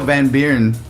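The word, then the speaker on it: Van Buuren: I know Van Beern.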